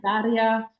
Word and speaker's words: Daria: I want to make sure I'm pronouncing your name properly. Is it Daria? Yeah. Daria.